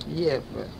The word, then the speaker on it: Gävle: Looks like G-E-V-L-E. But you pronounced it Gävle.